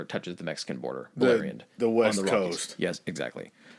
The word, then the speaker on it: Beleriand: of the Rocky Mountains is called, it's called Bella. For some reason, I always have trouble pronouncing this, and then once I hear it, I realize how much of an idiot I am. It's called Beleriand.